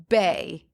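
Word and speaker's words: beithe: So the Gaelic word for birch is pronounced bay, B-E-Y.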